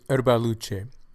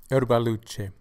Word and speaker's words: Erbaluce: Pronunciation of this grape is Erbaluce, Erbaluce, Erbaluce.